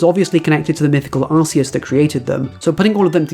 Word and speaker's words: Arceus: previous videos, but yes, I do say it as Arceus. Yes, I do know that Arceus is probably the correct pronunciation. No, I'm not going to start saying it differently.